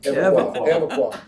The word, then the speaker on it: Evoqua: Evoqua.